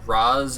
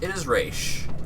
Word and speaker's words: Ra's: Is it Raz? Is it Raish? It is Raish.